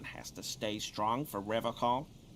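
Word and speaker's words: Revachol: He pronounces Revocol with a hard K, unlike other people. Serious question time. This man is no innocent. No one is. You said Revocol? I like to pronounce it the hard way. The old way. The Vespertine way.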